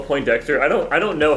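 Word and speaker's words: Poindexter: I feel like I've always heard as Po Dexter, not Point Dexter. I've always heard it pronounced that way, but I I I kind of assume that was like a pronunciation thing. It doesn't have a T.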